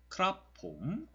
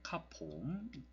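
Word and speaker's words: ครับผม: 그러면은 크랍폼이라고 발음을 하게 되고 폼은 사성으로 발음을 합니다. 크랍은 아까 삼성이라고 얘기했죠. 크랍폼. 그래 현지인들은 좀 편하게 카폼이라고 많이 발음을 하는데요.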